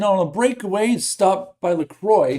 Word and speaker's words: Lacroix: It is not LaCroix. It is Lacroix. So I apologize, Max, for mispronouncing your name.